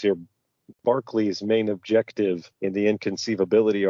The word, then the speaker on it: Berkeley: I think that this Berkeley, which we in America would pronounce Berkeley, is the guy who the university is named after, I think.